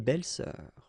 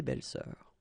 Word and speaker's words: belles-sœurs: Same rule here, S and S, but you don't pronounce it. Une belle-sœur, des belles-sœurs. Okay? Une belle-sœur, des belles-sœurs.